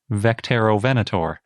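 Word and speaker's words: Vectaerovenator: me they wrote quote we imagine the name to be pronounced vecterovenator well that's nice it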